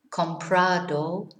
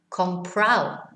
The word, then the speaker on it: comprado: in this area is the ado. It here is pronounced au. So instead of saying supermercado, they will say supermercado. Instead of saying hablado, hablao. Comprado, comprao.